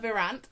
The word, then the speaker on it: Virant: that's not too bold is it exactly Juliana verant am I did I pronounce that correctly good I realized I've never